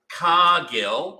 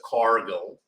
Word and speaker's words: Cargill: because I've got some Cargill I pronounce it Cargill you pronounce it cargo cargo cargo anyway we've got some